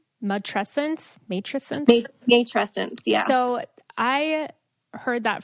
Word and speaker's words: matrescence: I want to touch really quick back on, and I'm going to say it wrong, matrescence.